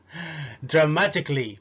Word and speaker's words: dramatically: dramatically بنفس الطريقة، dramatic بقت dramatically.